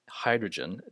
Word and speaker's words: hydrogen: And some might pronounce these words with a G sound, but it's oxygen, hydrogen, digital, not digital, agenda, not agenda, right?